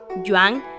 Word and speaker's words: Yuen: Yuan es pronunciación mandarín y Yuen es pronunciación cantonés. Es lo mismo, pero se dice ligeramente distinto.